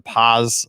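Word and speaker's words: Paas: store and they came back and had the paws uh easter egg dye kits because you know the old school p-a-a-s i pronounce it but i've had this ever since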